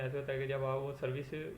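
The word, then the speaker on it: José: ये स्पेलिंग देख रहे हैं जे ओ एसई हमारे मुताबिक ये नाम बनता है जोस या जोजे ठीक हो गया लेकिन यह इसको बोलेंगे होजे यह जे को ए की आवाज निकालेंगे ठीक है हो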